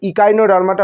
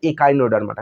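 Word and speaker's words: Echinodermata: আছে mollusca mollusca আছে ইকাইনোডার্মাটা বলছি কারণ এখানে ই আছে কিন্তু এখানে বাংলা মিডিয়াম বলছে একাইনোডার্মাটা কোন প্রবলেম নেই তুমি যেভাবেই বলো বাংলা বললে বাংলার মতন উচ্চারণ করো ইংরেজিতে বলা ভালো কারণ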